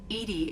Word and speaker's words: EDI: Edie is the phonetic pronunciation of EDI.